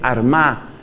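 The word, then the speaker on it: Armagh: de San Patricio fue armá que se escribe con gh al final San Patricio desde la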